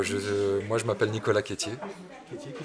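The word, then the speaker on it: Quetier: association d'accord alors je moi je m'appelle Nicolas kétierer qui s'écrit Q u e t I e r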